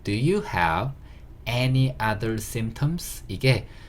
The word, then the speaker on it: symptom: 조금 어려운 단어인데 symptom 이렇게 되는 거고요. SYM 여기까지도 sim 잡으시고, P는 거의 묵음이라고 보시면 돼요. 소리가 안 나는 글자고요. 그 다음에 TOM 잡아서 symptom 이렇게 발음하시면 되는 단어고요.